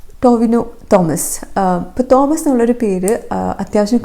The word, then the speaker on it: ടൊവിനോ തോമസ്: 4ാമത്തേത് ടൊവിനോ ടൊമ. ടൊവിനോ തോമസ്.